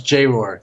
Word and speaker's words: J-Roar: And it's J-Roar. That's how you pronounce his name. Oh, J-Roar.